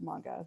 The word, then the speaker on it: manga: was very embarrassing so um yeah it it's pronounced manga so just fyi but basically manga is it's